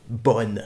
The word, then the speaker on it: bon: Mais pourquoi cette prononciation bonne? Et c'est exactement ça qui pose problème. On écrit bon anniversaire, on écrit bon appétit, mais on prononce bon anniversaire, on prononce bon appétit.